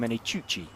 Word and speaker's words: Menicucci: That's an interesting one because it's not a CH in the middle of the name, is it? No. It's a C. So it's just a hard C instead of the ch sound.